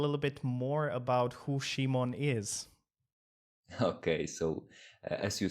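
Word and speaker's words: Szymon: simon i i guess it's pronounced i'm i'm pronouncing it in english in english it'll be simon in polish shimon shimon okay shimon welcome how are you today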